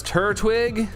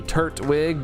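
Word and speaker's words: Turtwig: Uh, you pronounce it as Turwig. Turwig. It might be. I don't know. I say Turwig. I see it as turt like turtle. Turt turtle. So turt wig, but it, you know, I don't know.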